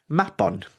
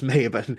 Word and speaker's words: Mabon: So Mabon, the autumn equinox, the word actually hails from Welsh culture, from Welsh mythology, and it's actually pronounced Mabon, not Mabon, Mabon.